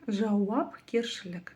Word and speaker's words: жауапкершілік: Жауб кершалек. Жауб кершелек. Ответственность, собственно, наверно. Вы уже заметили, да, я его уже при произнесении, при произнесении при произношении разделила, так скажем, на два слова: жауаб и кершлек.